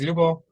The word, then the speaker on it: Lyubo: as you said yes my name is it's kind of hard to pronounce but the short version is lubo and uh co-founder and